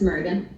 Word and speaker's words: Mergan: and Canon so Sheila is it mergan did I pronounce that right yes it's mergan okay you're here on